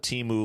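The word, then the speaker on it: Temu: Timu, as you wrote it, Timu, not Timu the way you think it's spelled, but Timu like the what do you call it, like online website.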